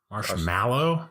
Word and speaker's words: marshmallow: have you been Spellman he thinks it's an e it's an a o pronounce like an e I know marshmallow but it's an na it's not ME marshmallow yeah Elliot's world is